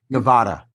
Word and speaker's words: Nevada: Sean, I do want to fight you on the pronunciation of Nevada. Oh, shit. Nevada.